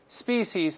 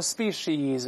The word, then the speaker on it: species: 跟 tell 类似。Species 单复同形，英国人多读成 species，在美音中两个声音都会听到 species，有相当多